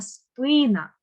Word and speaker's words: спина: звикли зовсім по-іншому наголошувати наступне слово спина не спина а спина тобто у мене пісня тяжкого